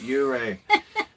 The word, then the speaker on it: Ouray: Plus, I just now started pronouncing it right, Ouray.